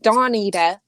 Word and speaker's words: Dawnita: So Dawnita, it's Done. dawn as in the morning, and then the Ida on the end.